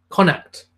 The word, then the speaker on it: Connaught: work and Jamie says Connaught is pronounced pronounced connect so the Druker connect